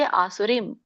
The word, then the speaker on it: ಆಸುರೀಂ: ದೀರ್ಘ ಇದೆ ರೀಮ್ಗೆ, ಆಸುರೀಂ ಅಲ್ಲ, ಆಸುರೀಂ.